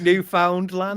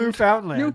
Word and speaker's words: Newfoundland: know this by now but the way he pronounces Newfoundland pisses me the off is it Newfoundland Newfoundland yeah Newfoundland Newfoundland you just found it I